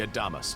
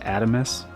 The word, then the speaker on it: Adamas: Allow me to express my gratitude to you for sailing with us on the Adamas today. It's pronounced Adamus.